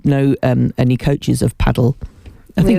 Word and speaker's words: padel: um any coaches of paddle I think it's just called paddle isn't it I think it's just padle padel it's spelled padel but anyway um yes